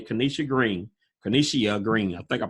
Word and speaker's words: Kenishia: well hi everyone um my name is Kenisha green so the eye is silent um I currently live